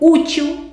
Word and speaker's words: útil: É o que aconteceu com útil. Terminou com L, não terminou? Mas o mais forte é o U.